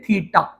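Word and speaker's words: theta: ये जो बेटा मैंने डिजाइन बनाया ना, ये इसको बोलते हैं, प्रोनाउंस करते हैं थीटा।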